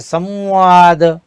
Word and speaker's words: संवाद: अब व की बात करें तो व से पूर्व जो अनुस्वर लगता है तो उसका उच्चारण म की तरह होता है। जैसे संवाद, संविधान।